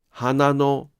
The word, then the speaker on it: 花の: しかし、のがつくとピッチが変わります。花のはピッチが下がりません。